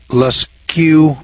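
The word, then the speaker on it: Lascaux: ahead of our time today in altamar Spain leskew France that spelled la SC aux I guess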